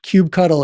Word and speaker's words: kubectl: But kube cuddle is the official pronunciation of this seven letters.